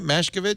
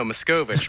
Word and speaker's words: Machkovech: Sam, am I saying it right? Machkovech? Not even close. No, Machkovech.